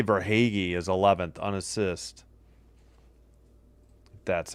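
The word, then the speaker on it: Verhaeghe: They say Verhagy is 11th unassist.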